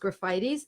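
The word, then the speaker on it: Graphites: I took graffitis looks like Graphite's but it's pronounced graffitis I use that in a 200c because of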